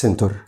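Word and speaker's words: center: طيب حرف السي ده بيلخبط ناس كتير. امتى بنطقه وامتى بنطقه زي صوت السي؟ بينطق زي صوت السي في حالة محددة إذا جه بعد منه 3 حروف بس، الآي أو الإي أو الواي. بص كده الكلمة مكتوب سنتر سي إي جاي بعده إي عشان كده نطقناها بصوت السي، غير كده بنطقه بصوت الك.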